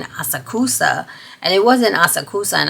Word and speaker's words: Asakusa: So throughout the city, we were in, I used to mispronounce this one city. It's called Asakusa.